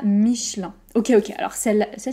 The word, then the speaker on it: Michelin: mitch lun lun 1 comme un peu michelin michelin michelin on peut prononcer parfois michelin si vous préférez mais par exemple chez moi on sera plutôt michelin michelin michelin je travaille chez michelin c'est faux ensuite peut-être que vous ne